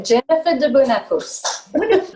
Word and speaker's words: Jennifer de Bonnafos: This is Jennifer de Bonnafos. Is that how you pronounce it? Yeah. Jennifer de Bonnafos.